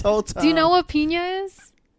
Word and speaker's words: piñas: Spanish for pineapple yeah it's spelled with on Enya it's like an N with a little over it you know what I remember that now from likes you pronounce that as yeah yeah yeah like Nina yes Nina I don't know why